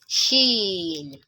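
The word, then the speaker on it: شين: It is quite similar to the sound sh, sh, as it is pronounced as sh. So an example is when we have shape, short, shame, shed. So there, the sh sound in those words is similar to the pronunciation of letter Shin in Arabic, as in Sheen.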